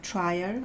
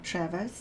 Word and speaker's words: Trier: And the Romans pretty much conquer the Trier or Travis depends on which language you're going to pronounce this town with.